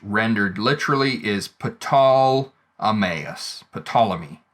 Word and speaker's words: Ptolemy: literally is patal ammas ptolemy right the the ptolemais is is the older pronunciation uh ptolemy is more of an english adaptation of the name and you can see